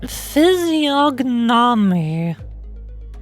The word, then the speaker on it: physiognomy: with the physiologically pH physiognomy of a deceiver phy physiy of course the g is silent why did she not